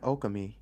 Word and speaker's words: Okami: It might eventually look like Okami. Who? Okami. Oh, Okami. I was like, Okami. Okami. That was the weirdest pronunciation of that word ever.